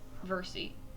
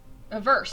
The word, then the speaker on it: Versse: This is Veresi? Versi. Verse.